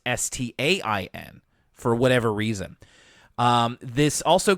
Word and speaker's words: Berenstain: So some people see that last name and think that it should be Stein and not Stain for whatever reason.